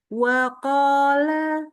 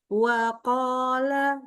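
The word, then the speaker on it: وقال: Waq lagi lagi mulutnya huruf qofnya maju dikit nih. Waqola waqola waqar. Iya. Jadi mulutnya enggak boleh waqo, enggak boleh waqo, tapi waqola jadi sama waqola.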